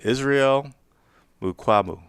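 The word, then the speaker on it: Israel Mukuamu: Israel Mukwamu. Yeah, that's it. They activated Israel Mukwamu from the practice squad.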